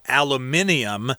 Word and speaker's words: aluminium: got these different materials aluminum is how we say it in america in england and other places they'll say aluminium but americans say aluminum which is a very